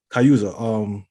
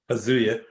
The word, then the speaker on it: Kazuya: Kayuza. Kazuya. Kazuya, thank you. I don't know how to pronounce his name.